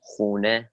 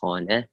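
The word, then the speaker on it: خانه: To start off, we have number 1, khane, khane, which is house, khane. People can also say khune. The formal way to say is khane.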